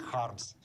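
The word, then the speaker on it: Kharms: He would pronounce it Harms, so he became Daniel Harms.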